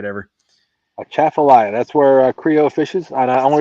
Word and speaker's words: Atchafalaya: A Chaffalaya. That's where Creole fishes. And the only reason I know how to pronounce it is because I heard him pronounce it numbers of times.